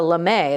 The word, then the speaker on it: lame: Now, using a sharp knife, this is actually, we used to call it a lame. That's what I was told how to pronounce it.